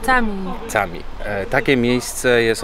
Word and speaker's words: cami: Czyli dżami po turecku pisze się cami.